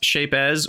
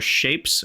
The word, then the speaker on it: Shapez: And I don't know if it's pronounced Shapez or Shapes, but it's got a Z on the end, and I like to pronounce the Z.